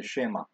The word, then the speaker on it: Shema: You'll hear people say Shema. But the emphasis is on the last syllable, and I guess maybe the first part is a strong vowel. But it's Shema, and you heard that before.